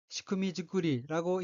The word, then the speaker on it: 仕組みづくり: 넷째 줄 가운데 어휘는 한자가 섬길사, 짤조, 지을 짝자가 들어있고 일본어로는 시쿠미즈쿠리라고 읽으며 시쿠미는 짜임새, 구조, 기구의 뜻이고 시쿠미 뒤에 붙은 즈쿠리는 만든 것, 만듦, 만들기 이란 뜻으로 시쿠미즈쿠리는 구조 만들기, 구조 마련이란 뜻입니다.